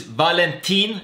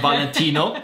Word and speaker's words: Valentin: between Vitaly Melnik versus Valentin. This time I pronounced that right and not Valentino.